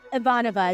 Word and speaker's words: Ivanova: Ivanova is how they say it.